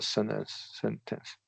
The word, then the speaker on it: sentence: sense stress of the sentence. Yeah. Sentence. Yeah. Yeah. That ideally use a glottal or a true T there.